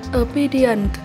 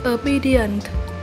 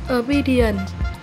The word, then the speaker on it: obedient: tự do 4, chúng ta có tính từ obedient. Mình xin đọc lại từ này là obedient. Ngoài ra thì từ này còn có một cách đọc khác là obedient. Ở từ này chúng ta nhấn âm 2 nhé.